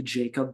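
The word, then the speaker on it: Jakob: Uh, Yakob Potal, I believe that's how you pronounce it. Could be Jacob Potal, but um, he's European, so we're gonna say Yakob.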